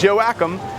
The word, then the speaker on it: Joachim: So right here on the corner of Dauphin Street and Joachim, yes, that is how you pronounce it, you've got several places.